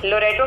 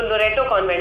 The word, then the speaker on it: लोरेटो: लोरेंटो लिख दिया है, तो लोरेटो कॉन्वेंट है। और बचपन में मैं इस बात पे बहुत हल्ला मचाती थी, क्योंकि मैं प्रोनाउंसिएशन को लेकर बहुत ही फिनिकी थी। तो कोई अंकल आते थे मिलने के लिए, वो बोलते थे बेटा हम सुना है तुम लटेरों में पढ़ती हो, कोई लोरोटो बोल दे।